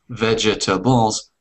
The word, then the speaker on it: vegetables: vegetables vegetables fantastic okay so sometimes the spelling doesn't help with pronunciation sometimes the spelling is confusing um but very natural